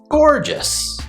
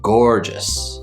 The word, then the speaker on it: gorgeous: hanging open and then finally we have the s sound just just gorgeous gorgeous gorgeous i remember seeing